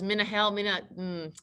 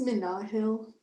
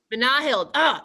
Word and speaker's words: Minahil: Is it was Minahel, see, that's bad. I know it's bad. As soon as I said it, I know it's bad. Tell me how to say it again. It's Minahil. Minahil. Emphasis in the middle.